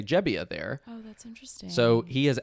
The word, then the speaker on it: Gebbia: Joe jebia okay okay I might say gebia sometimes because the this is actually an interesting story I just learned he used to go by gebia but he recent somewhat recently within the last couple years did like a um a family genealogy project and found out where his family was